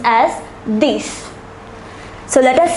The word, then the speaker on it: dix: And the number 10 is pronounced as dix.